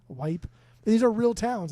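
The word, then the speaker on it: Weippe: And it's spelled w e i p p e, Wipe.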